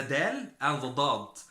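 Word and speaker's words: ضاد: But for the dad, it's something different. The dad is, let us say, it's a heavier form of the dal, exactly like the kaf and the qaf. Yes, exactly. The dal, the dad. Dad. Like, for example, daw, light. Daw, light. So it is heavier than the dal.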